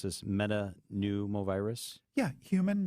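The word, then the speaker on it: metapneumovirus: can you tell us about how do you pronounce this meta pneumovirus yeah human metanooma virus very good or hmpv is a respiratory virus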